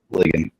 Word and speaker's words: Legion: I don't know if you I know I giving you Mark Legion, what's up? We got clarification today. Mark said it's pronounced Ligan.